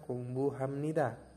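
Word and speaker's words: 공부합니다: apmori dibacanya amori ada kungbuhamnida ya kungbunida itu dibacanya kongbu Hamnida kongbuh habnida dibacanya kongbu Hamnida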